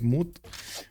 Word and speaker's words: moot: Maybe I actually mispronounced moot point, like mute instead of moot, with an extra, an earlier T and an extra E over there.